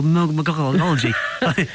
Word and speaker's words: Mogology: They say oh, Mogology.